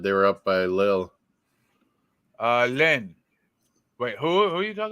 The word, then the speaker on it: Lens: Long? Long. Is that how you pronounce it in French? I always thought it was like Len or Len.